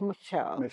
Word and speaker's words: M'Shell: say the word and the m i c h e l e is Michelle not Michelle it's Michelle soft Mell and so my name